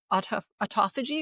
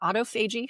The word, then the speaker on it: autophagy: it activates a process called autophagy or autoagi however you want to pronounce it, they're both correct.